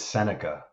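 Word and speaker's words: Sennecke: Now, if I say his name wrong, correct me, Carlo, but Bennett Senecki. Is it Senecki or Sinek? Bennett Seneca. Oh, thank you, sir.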